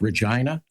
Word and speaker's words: Regina: We went up to Canada to a city called Regina, the city that rhymes with fun.